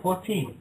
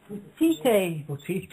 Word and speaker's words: Potite: How do you reckon you pronounce that? Potty? Potty, is it? Potite. Potite, there you go.